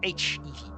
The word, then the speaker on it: HEV: That should be an HEV suit charger, because HEV. It is an abbreviation and it is pronounced individual letters, which means that phonetically it starts with a vowel.